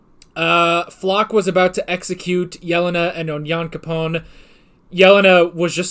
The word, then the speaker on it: Yelena: Yelena. That's how they say it. Yelena.